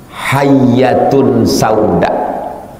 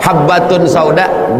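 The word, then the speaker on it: حبة سوداء: cari resep obat demam dibacanya di situ hayyatun Sauda padahal sebetulnya tulisannya hab batun sa Sauda datang rayap D luubanginya di samping batu jadi hayyatun Sauda habbatun Sauda biji hitam hayyatun Sauda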